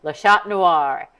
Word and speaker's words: Le Chat Noir: Find out more about Le Chat Noir.